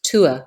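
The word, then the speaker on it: tuath: people think but so it's pronounced Tua as in the number two and then ah and basically it's it's an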